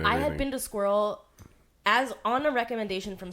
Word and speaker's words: SQIRL: And it's like It's spelled squirrel without a Q. Or U. without the U. Yeah, it's SQIRL.